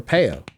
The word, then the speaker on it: Pio: And also happy birthday on May 14th to Yukinoshita Pio. Or Peo, as I should probably pronounce it, as I learned.